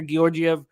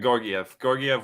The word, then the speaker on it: Georgiev: You hear everybody pronounce it differently. I got Georgiev, whatever, you know. Yeah, Georgiev. That's what I initially started using, and then I heard the soft G, but I'm going back to Georgiev.